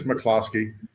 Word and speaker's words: McCloskey: Actually, it's McCloskey, right? Is it pronounced? Yeah, it's McCloskey, Mr.